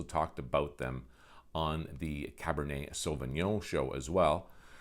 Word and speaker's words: Cabernet Sauvignon: about them on the cabernet sauvignon show as well where i proceeded to pronounce it cabernet souvenir but that's another story